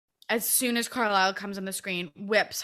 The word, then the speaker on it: Carlisle: So I always say it wrong. I've been practicing it. I believe it's Carlisle. Carlisle, yes.